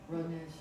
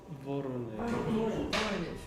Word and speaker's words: Voronezh: Maybe you could tell us, how do you pronounce it? Rodnej? Voronezh. Voronezh. Voronezh.